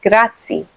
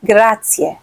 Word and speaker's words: grazie: they know how to say because they'll say grazie, but it's actually grazie. Learn a few phrases, do your best with the pronunciation.